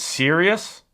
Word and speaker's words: Sirius: It says Sirius.